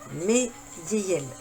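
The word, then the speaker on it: Haiaiel: Meyeyel. Donc ça s'écrit H-A-I-A-I-E-L. Mais il dit, il faut l'appeler avec M. Meyeyel.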